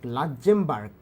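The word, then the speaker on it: লুক্সেমবার্গ: হ US dollar লুকজেম্বার লাক্মবার্ক লাক্মবার্ক উচ্চারণ হবে এরকম 24000 ডেনমার্ক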